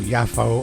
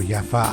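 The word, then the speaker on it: Yafo: I have been to yaffo or yaffa I've heard it pronounced both ways the old Ford is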